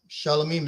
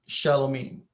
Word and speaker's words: Shalomim: Shalomim is my name in Aramaic. When it's in Greek, my name should still be pronounced Shalomim.